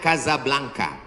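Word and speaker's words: Casablanca: Nama negaranya Maroko, ibu kotanya tulisannya Casa Blanca. Cara bacanya Kazablanka.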